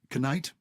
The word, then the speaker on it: knight: knight, night, not, cannot, and no. Okay, we used to pronounce the Ks, and I You're wish that we joking.